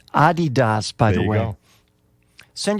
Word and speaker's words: Adidas: And it's pronounced Adidas, by the way.